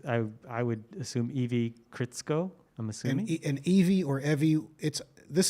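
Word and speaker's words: Krzsko: but it's evie is and it's k-r-z-s-k-o is my guess from fairy wing bling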